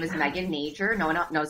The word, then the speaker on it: Nager: stepped on you um my name is Megan nature no one knows how to pronounce my last name so I thought I'd